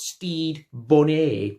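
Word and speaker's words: Stede Bonnet: No, and my name, by the way, is pronounced Steed Bonnet.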